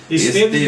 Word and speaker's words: Esteves: Também não é temudo ali, né? Não, Esteves do jeito que se escreve.